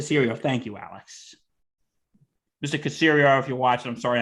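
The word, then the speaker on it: Caserio: ties but what you brought up with nick cesaro how do you say his name uh cassirio the cereal thank you alex mr casirio if you're watching i'm sorry i mispronounced your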